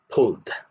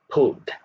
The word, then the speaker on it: pulled: okay the next one pulled pulled you can hear the da sound it goes under the d column the third word wished